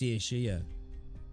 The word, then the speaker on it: Saoirse: It's Saoirse. Saoirse. Saoirse. I'm calling her Saoirse. Swashi. Saoirse. Remember, it's Saoirse.